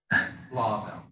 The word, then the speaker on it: Blauvelt: So Blauvelt, is that the right pronunciation or close? Blauvelt.